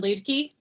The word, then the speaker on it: Luedtke: Yes, you didn't say my name right, but that's okay. Lots of people don't. So it's Luedtke.